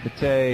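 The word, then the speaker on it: Matei: His buddy His buddies Mike uh Mate, is that how is this pronounced? Mike Mate. Yeah, that's right. Mike Mate.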